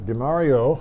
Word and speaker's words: Demorio: DeMario.